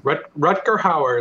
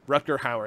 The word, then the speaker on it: Rutger Hauer: Rutger Hauer is how I've always heard it. Rutger Hauer.